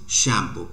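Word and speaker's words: Tsangpo: सो the name of Brahmaputra in China is शैम्पो, right? तो शैम्पो याद रखना है आपका, जिसमें टी जो होता है साइलेंट होता है।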